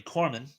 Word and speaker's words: Korman: But yes, it's Harvey Korman with a K.